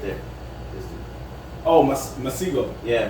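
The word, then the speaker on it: Masego: Masco. You never heard him? Masco. I think that's how you say it. It's right there. Oh, Masigo. Yeah, Masigo.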